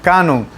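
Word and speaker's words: κανών: también instrumento de medición es una palabra griega que se escucha a sí mismo como en el español canon lo único que se escribe con k y probablemente tuvo su origen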